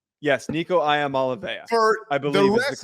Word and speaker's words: Iamaleava: Yes, Nico Iamaleava.